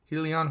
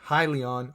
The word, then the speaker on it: Hyliion: with ticker symbol h-y-l-n helion holdings corp or if you wanna pronounce it as hylion holdings corp also known as